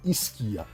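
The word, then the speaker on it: SCIA: prestem atenção nesse nome esquia ele se escreve s e a né a pronúncia deveria ser ccia mas se fala esquia como se tivesse um k no meio ou do verbo esquiar né isso para diferenciar do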